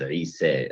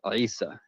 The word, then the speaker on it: Isa: And some reading traditions render it as Isa as well. As a non-Arabic speaker, I'm not particularly good at pronouncing that initial ayn, a letter produced in the back of your throat called a pharyngeal consonant.